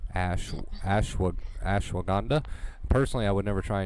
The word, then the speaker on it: ashwagandha: Can you pronounce that word, Kate? I tried Ashwanda? ashwagandha.